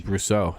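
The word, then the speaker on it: Brosseau: It's Brousseau.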